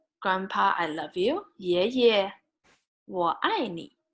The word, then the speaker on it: 爷爷: So on your father's side, you say 爷爷, 爷爷, right? And on your father's side, grandma, 奶奶, 奶奶. So if you want to say, Grandpa, I love you, 爷爷, 我爱你, right?